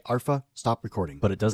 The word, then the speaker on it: Arpha: unboxing of the two alpha dash cams and I believe it's actually pronounced arpa so please forgive that